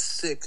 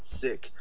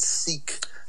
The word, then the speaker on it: Sikh: so like um yeah it's pronounced sick that's how you say it sick but like like i said yeah the colonizers pronounced it seek and then you know